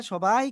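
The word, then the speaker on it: ث: জিহ্বার আগা, শুধু আপুরা বাদে বাকিরা সবাই ক্যামেরা অন করেন। জিহ্বার আগা, এই সামনের উপরে দুই দাঁতের আগায় লাগান, লাগান, লাগান, লাগিয়ে উচ্চারণ করতে হবে। হালকা বাতাস বের হবে।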